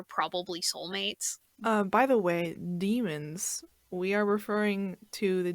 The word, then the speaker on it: daemon: watching the movies, but I believe it's pronounced daemon or demon. It's demon. It's demon? Okay. Yeah, it's demon.